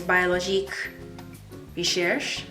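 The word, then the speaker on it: Biologique Recherche: Now this Masque Vivant, the rebalancing face mask, biological research, I think the French pronunciation is BIOLOGIQUE, RECHERCHE, I guess.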